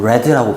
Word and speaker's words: read: 과거 시제로 쓰일 때는 read라고 발음합니다.